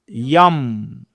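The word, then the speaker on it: যং: অন্তঃস্থ জয় অনুসার young, ইয়ম, ইয়ম। মানে বাংলায় উচ্চারণ করলে আমরা জ বলি, কিন্তু ওটা আসলে বর্গ জ, অন্তঃস্থ জ হবে ইয়া। হ্যাঁ, তো ইয়ম, এই যে ইয়ম, এই শব্দটি আমরা, এটিকে বায়ু বীজ বলা হয়।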